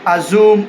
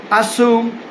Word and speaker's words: assume: that the word assume is not not not pronounced as a zoom or assume please and the word presume is not not pronounced as presumed or presumed so the word assume as I'm pronouncing it assume and presume I hope you get it now